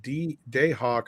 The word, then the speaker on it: Dahawk: It's pronounced Dayhawk, by the way.